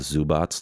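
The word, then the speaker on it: Zubac: zu Bock for the I don't know how people pronounce it zu BOTS but it's spelled zu BAC so I want to say that they probably know what the pronunciation is so I'm just gonna go with zoo BOTS the way everybody else says it the zoo BOTS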